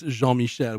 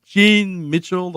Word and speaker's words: Jean Michelle: because as you know it's Jean Michelle which is you know written like Jean so they usually call me Jean Mitchell or Jean Michael and I I die